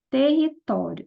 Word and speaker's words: território: Então, a sílaba mais forte é o to.